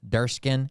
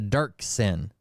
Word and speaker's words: Dirksen: I said it wrong earlier. Durskin. It's a Dirksen.